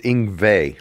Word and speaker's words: Yngwie: It's Yngwie, like a V. Yngwie Malmsteen.